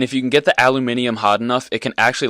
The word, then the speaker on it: aluminium: I heard some British dude pronounce it aluminium, and now that's just how I do it.